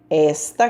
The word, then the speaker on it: esta: cuidado não sente aí esta cadeira está quebrada observe que eu falei cuidado não sente aí com acento forte são aberto essa eu não falei está eu falei esta cadeira então não tem acento